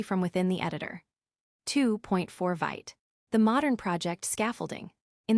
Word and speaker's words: Vite: However, in recent years, a newer, faster build tool and development server called Vite has become the recommended choice for starting new Vue.js projects. Vite, pronounced vit like vite in French meaning quick, stands out because of its incredible speed during development.